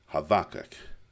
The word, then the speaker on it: Habakkuk: But keep in mind in Hebrew they often pronounce our B as a V. Havak.